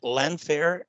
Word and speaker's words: Llanfair: And one thing I did notice that, and I want to make sure I pronounce this right. You're from, is it Llanfair in Wales?